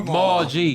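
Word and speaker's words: Maalg: I forgot how you pronounce it, man. G Maul. Maul G.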